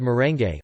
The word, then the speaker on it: merengue: influence but they are called merengue with all the vowels pronounced leche flan is a